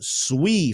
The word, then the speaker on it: SUI: Next up on the list is one of the newer and hotter layer one solutions, and that is SUI, or probably the correct pronunciation, SUI for everybody out there.